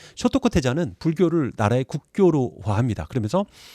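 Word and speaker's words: 聖徳: 성덕태자라고, 이거 이제 일본식 발음은 쇼토쿠 태자라고 불리는 태자입니다.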